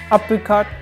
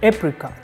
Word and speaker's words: apricot: for Wednesday next one apricot or apricot apricot is the British accent pronunciation and apricot is an American but both of them are correct you can say which